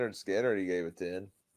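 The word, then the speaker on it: Skynyrd: He gave Skynard's album a Skard pronounced Skinner.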